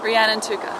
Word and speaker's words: Rhiannon Tooker: that how you say it yes why you pronounce it for us so we have it exactly right ran and Tuka okay yes and you're from Australia Queensland that's